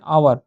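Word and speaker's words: hour: अब यहाँ पे देखो ऑवर लिखा हुआ है, स्पेलिंग के हिसाब से जाओगे तो एच आ रहा है, अब बोलोगे एच तो कॉन्सोनेंट है, इसके साथ तो यहाँ पे ए एन यूज़ किए हैं, जबकि ए एन का यूज़ तो ऑवल के साथ होता है, यहाँ पे गलत बोलोगे। एक्चुअली हम लोग प्रोनाउंसिएशन देख रहे हैं, ठीक है? Wait for एन आवर, आवर बोलते हैं तो आय आ रहा है, ठीक है?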